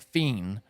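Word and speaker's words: FE!N: called Fe it's pron it's spelled Fe i n which you would pron you would pronounce that feain I think but it's he says it like fiend and I think he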